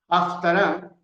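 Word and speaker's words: Haftarah: como porción de los profetas o jaftará que se escribe h a f t a r a h afara y también se le conoce por tanac t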